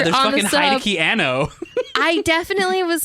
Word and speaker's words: Hideaki Anno: Hideki Anno. I definitely was like, I Also want known as Hideaki Anno.